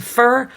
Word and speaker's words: for: go up and pitch for the weak syllable here it's going to be on for turning it to fur rush through that word not for you not